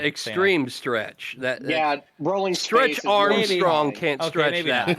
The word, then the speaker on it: Rowling: It's rolling. It's rolling. Rolling.